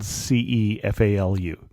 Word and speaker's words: Cefalù: And this is the one that's spelled Cefalu. Exactly. Yeah. It doesn't sound like that's how you would pronounce it, but I forget sometimes you get that ch sound, like arrivederci.